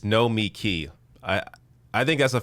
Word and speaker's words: Nomiki: all right good job no mickey look i probably even said her name wrong in the beginning of this it's no me key i i think that's